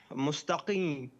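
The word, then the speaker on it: مستقيم: Mustaqim, like this. Yeah, you said the M at the end, mustaqim.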